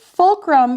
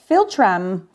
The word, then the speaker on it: philtrum: She was like, you say fulcrum, it's philtrum.